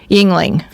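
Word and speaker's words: Yuengling: how you pronounce it Yingling is it y u n g yes yeah Yingling my daughter drinks that so Yingling Yingling Yingling like ying and yang Yingling the Yingling Brewery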